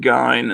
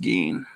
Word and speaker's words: Gein: to pronounce it ed gein and then i was told with good confidence that it's pronounced gene hey g man loved